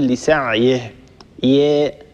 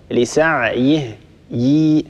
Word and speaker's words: لسعيه: مؤمن فلا كفران لسعيه، لا بد أن نحقق كسرة الياء، لا نقول لسعيه ي، هذه ليست كسرة صحيحة، لسعيه ي، هذه هي الكسرة الصحيحة، فلا بد أن نحقق كسرة الياء، ننتبه لهذا يا وصال.